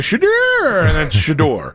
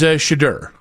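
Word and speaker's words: Shedeur: It wasn't like he vacasillated. You know how like sometimes it'll be Shador, right? No, no, no. He consistently said it. uh was Shadur.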